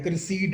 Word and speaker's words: Criseyde: क्रिसीड and deed, क्रिसीड deed, Troy Joy.